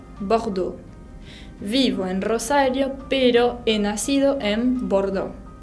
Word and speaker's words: Rosario: Así se pronuncian todas las vocales, Rosario, pero la acentuación, el acento tónico, va sobre la última vocal. No pronuncio Rosario, sino que pronuncio Rosario, con esa R de la garganta.